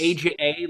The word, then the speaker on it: Aja: AJA, like the Steely Dan album. I was just gonna say, which is Asia, but It is exactly like the Steely Dan album, except that it's not pronounced that way. correct. Okay, it's Aja.